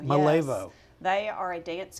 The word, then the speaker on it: Malevo: Malevo, Malevo.